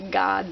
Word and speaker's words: Gad: That's G-A-D. A lot of people in Hebrew it's pronounced God, but since it sounds so much like the word God, I try to pronounce it Gad so people know.